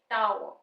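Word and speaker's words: tower: यूज हो रही है आव आव जब हम इकट्ठा बोलेंगे इसको फ्लुएंसी में टाव टाव र साइलेंट रहेगा यहां पे सिंबल्स की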